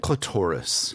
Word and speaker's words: clitoris: is a clitoris right clitoris yeah it rhymes with dolores we know that how